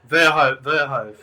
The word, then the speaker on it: Verhoeve: Okay, so today we have Verhoeve. Did I get that right? I think you butchered it. But that's I okay. butchered it. Verhoeve.